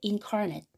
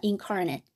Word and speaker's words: incarnate: 자, incarnate. incarnate 이렇게 발음하면 형용사고 명사 뒤에서 수식한다. 이거 기억해 주시고요. 자, 그 다음에 incarnate 여기를 ate로 발음하면 타동사가 된다.